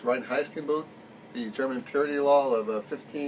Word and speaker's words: Reinheitsgebot: Now, I have to wonder, we've all heard of the, I believe it's pronounced Reinheitsgebot, the German purity law of 87, 97?